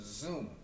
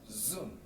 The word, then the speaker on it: zoom: 대략 지읒 발음 비슷하게 내시면 되세요. 대표적인 단어로는 뭐가 있을까요? 그 줌인 줌아웃 할 때 있죠. 이것도 zoom 이러거든요. 따라해 볼게요. zoom 그죠?